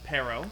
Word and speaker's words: Pearo: say your name I I usually pronounce it perro perro yeah kind of like the fruit pear with a no on the end or no around the pair you know I like